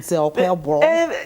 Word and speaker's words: Okpebholo: There's even a way they pronounce it, Okpebholo. Yeah, I think the B is somehow, it's silent.